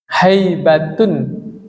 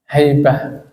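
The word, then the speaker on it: هيبة: Haibatun. Kalau orang Indonesia kan bacanya tetap haibat. Tapi kalau orang Arab, haibatun tak marbuto dibacanya apa? Haibah.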